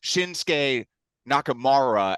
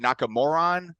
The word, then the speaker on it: Shinsuke Nakamura: you mispronounced his name it's actually shinsuke Nakamura and I think you accidentally said nakamuron I don't know maybe